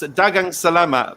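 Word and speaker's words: daghang salamat: Is it, how do you say maraming dagang salamat?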